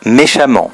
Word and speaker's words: méchamment: l'om exemple méchant l'adverbe méchamment donc on conserve la voyelle et on double le m